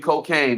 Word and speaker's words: Kokane: And shout out to the homie Cocaine. If y'all know Cocaine, it's spelled Kokane.